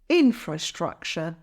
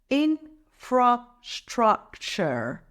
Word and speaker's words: infrastructure: to increase our Revenue it's pronounced as infrastructure let's break it down infra structure the stress is of the first syllable in let's say it together